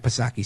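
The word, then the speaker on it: Psaki: with jen for circle back pasaki silent p question what are these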